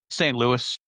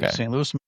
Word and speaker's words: St. Louis: Uh St. Louis. It's French, but it is Louie in French.